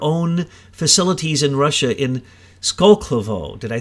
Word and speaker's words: Skolkovo: and build their own facilities in Russia in Skolkovo. Did I say it right that time? Right. Skolkovo.